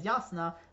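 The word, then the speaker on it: Jasnah: Warren pronunciation is that the letter J is pronounced yeah instead of J uh so I know that yasna is yasna but I don't know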